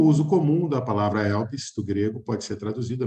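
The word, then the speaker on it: ἐλπίς: que ela se pronuncia, a fonética da palavra em grego é elpis, que é um substantivo feminino que tem origem no verbo elpo, que quer dizer antecipar ou acolher.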